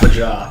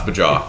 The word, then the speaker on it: Baja: It's pronounced Baja. Baja. It's Baja, for sure.